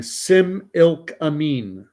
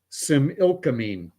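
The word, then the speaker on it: Similkameen: um oh and whale oil is telling me how to pronounce that unwieldy riding he's saying Sim ilk amine Sim ilk amine all right I won't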